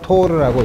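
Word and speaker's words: Torr: 그래서 760mm 수은이 이게 1, 그래서 1 토르라, 원래는 토리첼리라는 이탈리의 과학자인데 앞에 이건 토리첼리라고 읽지 않고 그냥 앞에 네 글자를 따고 초문자로 써서 토르라고 읽고, 요게 얼마가 됐더라?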